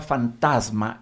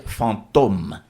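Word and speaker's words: fantôme: es muy interesante que la palabra fantasma en francés se dice Phantom atención no se dice fantasma se dice fantom y de ahí viene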